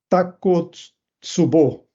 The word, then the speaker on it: Takotsubo: A ele pareceu que esta imagem lembrava muito o que ele chamou de Takotsubo. Esse é o nome que eu aprendi no Japão a pronunciar corretamente essa palavra e que eu resolvi adotar.